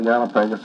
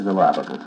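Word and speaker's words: Galápagos: Well, you can say Galapagos or Galapagos. I think either one is used, and both are about as correct, one as the other. One is the Spanish, and one is the English pronunciation, I believe.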